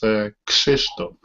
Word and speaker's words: Krzysztof: If you wanna tell correct, is Krzysztof. Krzysztof?